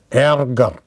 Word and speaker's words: Ärger: A has this umlaut letter, and its pronunciation is pretty difficult. For example, with example you may know it better. Ärger, ärger. So this dot is there, ärger.